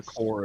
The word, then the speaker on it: Corps: recessed foreign it's just I keep trying to say the p and it's like a silent P which is really weird to me yeah yeah it probably it probably relates to uh the French pronunciation uh these uh Nancy's